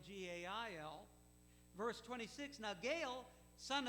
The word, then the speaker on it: Gaal: Now we read about Gaal, G-A-A-L, You pronounce it like a woman's name, Gail, G-A-I-L.